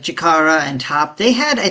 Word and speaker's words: Chikara: Because aside from like Fuko, Andy, Tatiana, and Chikara, is that how you pronounce his name? Unmove? Yeah, Chikara, you got it.